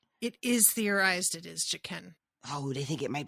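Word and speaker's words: Jaqen: thought it was the guy like our guy jacan I never say his name right it is theorized it is jaen oh they think it might be him him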